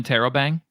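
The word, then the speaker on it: interrobang: followed by a question mark is called an Intero bang a what it's called it's called an Intero bang how do you spell it I'll put it in chat i n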